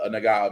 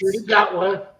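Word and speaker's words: Gatwa: I love I love Nagawa, Mr. Nagawa. It's Dotawa. Dotawa. Thank you. I will pronounce his name one day.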